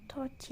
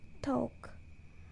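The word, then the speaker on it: thought: seseorang mengalami emosi selanjut touch atau pikiran ini bacanya touch ya bukan Talk di dalam teori ini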